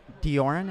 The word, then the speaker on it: Dioran: Dioran, it's pronounced?